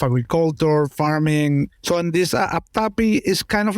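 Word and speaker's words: apthapi: Not sure exactly how it's pronounced too, but I think it's aptapi.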